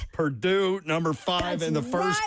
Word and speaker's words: Purdue: Number five, they do not pronounce the name of this school correctly in Babs's house. Oh, Perdont. Purdue.